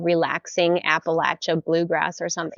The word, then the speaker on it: Appalachia: So we live in Appalachia, which coming from the Northwest, I always pronounce Appalachia, but I was corrected. It's the Appalachian Mountains.